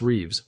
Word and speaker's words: Reeves: Bass Reeves, rhymes with leaves, was born enslaved in